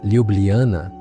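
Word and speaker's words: Ljubljana: Seu nome, que se pronuncia Liubliana, significa algo como amada em esloveno.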